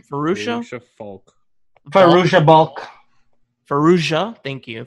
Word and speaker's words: Fairuza Balk: It stars, I always say her name wrong. Fairuza. How do you say her name? Fairuza Balk.